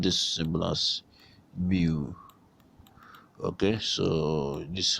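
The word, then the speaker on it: μ: We are pronouncing this symbol as mu, okay?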